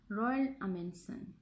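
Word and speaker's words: Roald Amundsen: उसको क्या कहा जाता है, प्रोनाउंस इट रॉयल अमेंसन.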